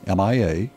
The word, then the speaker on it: Mia: Reilly 8th is Amelia ninth is Mia mi a I guess you could call that Maya but I typically it's Mia usually Maya is spelled with a why my a okay so this is